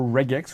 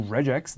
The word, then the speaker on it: regex: expressions regular expressions or red X or regex depending on your pronunciation or pattern matching mechanisms